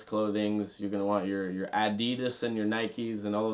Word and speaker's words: Adidas: Germans told me is actually pronounced Adidas. That's the German way you go. Adidas. Adidas. Yeah, that's how they do it.